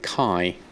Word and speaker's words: Key: Is it Key or is it Kai? How do you like that pronounced? It could be pronounced either way, I guess. Run a post scan. Key, okay.